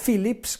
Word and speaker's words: Phillips: 8x10 Field, è la Philips Compact 2. Ho volutamente un po' spinto sulla L di Philips perché si scrive con 2 infatti, Philips.